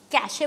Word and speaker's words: cache: is RAM, ROM and cache files. Cache bolte hai kai bar, but then the actual pronunciation is cache.